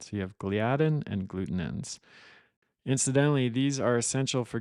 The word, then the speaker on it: glutenin: scientific name for gluten and then gluten in that's very confusing but that's spelled g-l-u-t-e-n-i-n it's not gluten it's a different protein called gluten in those are the two